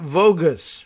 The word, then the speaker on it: Vogus: Caitlin Vogus, rhymes with bogus, but at any rate, with a V, I'm guessing she pronounces it that way, deputy director of the